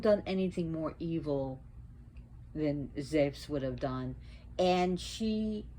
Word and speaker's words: Zeus: Now, Zeus, actually, Zeus, pronounced Zeus if you go to Greece. Trust me. Z-E-V-S, Zeus.